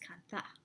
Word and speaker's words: kantha: It's a kantha, which is spelled C-A-N-T-H-A, and I've been told by some friends from India that it's pronounced kantha. That's the emphasis.